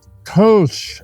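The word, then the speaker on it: Kölsch: Kosh is how you pronounce it is a German word is a German style of beer.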